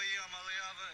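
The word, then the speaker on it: Iamaleava: I'm Nico Yamaleava, and the correct way to pronounce my last name is Yamaleava.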